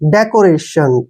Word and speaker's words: decoration: यहाँ पे देखिए DECORATION, ठीक है ना? इसको ऐसे तोड़ लेंगे, ठीक है? और DE का जो उच्चारण है वो हम डे के रूप में लिखेंगे। CO को हम क्या पढ़ेंगे? को, ऐसे। डेको। डेको हो गया ना? डेको। RA का उच्चारण रे करेंगे और TIO को हम शै पढ़ते हैं, ठीक है ना? एन को न पढ़ते हैं ऐसे। रेशन, डेकोरेशन, ठीक है ना?